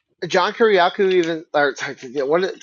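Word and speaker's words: Kiriakou: And then like John Kuryaku even or what say how do you say his last name? No, you got it. Kiriaku Kuryaku.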